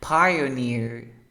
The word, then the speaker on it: Pioneer: ¿O no es Pioneer? Se pronuncia Pai. Pioneer. Pioneer.